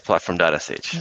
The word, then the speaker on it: platform.sh: role so you work at platform is it pronounced platform.sh yes platform.sh what is the sh B first of all